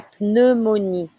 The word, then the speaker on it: pneumonie: La pneumonie. La pneumonie. You need to say the P.